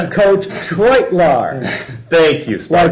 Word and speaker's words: Treutelaar: It's Coach Treutelaar. Thank you, Sparky. Like Detroit, Treutelaar is how he said it to me, and I've been saying it wrong forever.